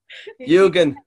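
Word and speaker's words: Yūgen: YUGEN.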